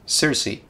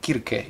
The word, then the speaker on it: Circe: Number three is Circe, or Kirke, if you want to go with the more appropriate and the more accurate pronunciation.